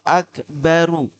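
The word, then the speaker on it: أكبرُ: itu asli tulisannya akbaru rnya Itu dah bukan sukun Ya itu namanya di dalam ilmu Nahwu itu Isim tafdil dengan wazan af'alu makanya bacanya aslinya Allahu akbaru ini ru ya Nah karena di sini kita membaca aslinya maka kita ketika wasalkannya harakat aslinya tetap dibaca jadi Allahu akbaru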